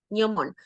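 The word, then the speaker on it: gnomon: a realizar un neomol vamos a escribir gomón gomón se escribe g n o m o n Ahí está entonces un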